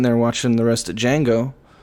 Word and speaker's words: Django: watching the rest of django the d is silent and my heart's just